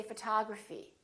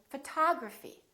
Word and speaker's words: photography: Or if we say photography, I'm studying photography. I really love photography. So prolong those vowels when the syllable is stressed.